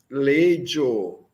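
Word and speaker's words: leĝo: Tio estes obeenda legio. Tio estes obeenda legio. São dois es. Nós pronunciamos os dois es. Tio estes obeenda legio. Legio, o G chapéu, né? Som de DJ.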